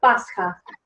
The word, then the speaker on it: Pascha: It's called Pascha. Pascha. Like in Russian. Yeah. Tanya, in Russian? The same, Pascha. Pascha.